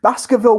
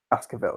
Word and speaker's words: Baskerville: a tight tight spot Baskerville yeah yeah i the e is silent anyway in Baskerville so that works out right so let's get Baskerville up a couple of